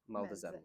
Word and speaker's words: Meldezettel: And in return, they would give you a document, which would be pronounced as meldezettel.